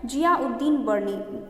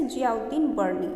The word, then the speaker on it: जियाउद्दीन बर्नी: ये जियाउद्दीन तीनों अलग अलग हैं और तीनों को एक साथ प्रोनाउंसिएशन करने की कोशिश करनी है। ओके, कैसे, जियाउद्दीन बर्नी।